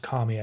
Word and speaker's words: Kami: And it also it's pronounced Kami, I think, in Japan. But if you anglicize it, it kind of makes it sound like a feminine name, which is a female-looking robot.